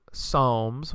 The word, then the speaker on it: Psalms: of tea book two Psalms silent P there some people would